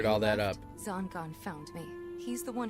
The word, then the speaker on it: Zangan: Zangan is how it's pronounced. I always thought it was Zangan. Zangan. I gotta get used to that.